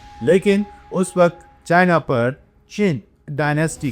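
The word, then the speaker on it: Qing: The root of the name China that chain dynasty is 2000 years old. This was द क्यू आई एन G chin dynasty.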